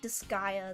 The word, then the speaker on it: Disgaea: I was told it's like Disgaea. That's how it's pronounced.